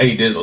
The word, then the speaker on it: ADZL: Yeah, it's pronounced A Dizzle, so it's one ADZL.